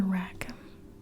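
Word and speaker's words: Rackham: you're watching this but I like Arthur rackam is how you pronounce his last name the illustrations of Arthur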